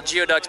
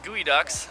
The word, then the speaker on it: geoduck: And farms, what I call geoducks, but how do you say those things? It's gooey ducks and, you know, a commercial boat captain and kind of just doing that gig.